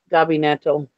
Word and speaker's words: gabinetto: Gabinetto.